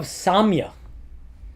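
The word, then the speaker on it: sāmya: Um which is of the nature of Samya. This is the Sanskrit word used s a long a m y a we're going to get to that in a second.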